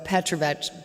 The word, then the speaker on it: Petrovic: All Serbian names end in IC, and it's pronounced exactly like bitch. Very easy to remember. So Petrovic, it's like Johnson, Anderson, Peterson.